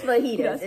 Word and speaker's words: fajitas: It's fajitas. Yeah, because that's how you say it in Spanish.